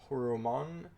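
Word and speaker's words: ホルモン: Ivankov is a Devil Fruit user, and he uses the Horo Horo Nomi, which Horo is short for Horomon, a Japanese pronunciation of the word, which gives him the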